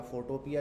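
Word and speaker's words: Photopea: तो प्रिंट के लिए फोटोपिया, फोटोपी बोलते हैं वैसे इसको, सही है ये, फोटोपी बोलते हैं इसको सही प्रोनाउंसिएशन, लेकिन भाई फोटोपिया बोलने का भी एक अपना ही मजा है, सही है।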